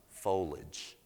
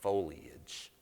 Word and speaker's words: foliage: to feedback she said honey it's not foliage it's foliage i said oh my god it's three syllables in the south we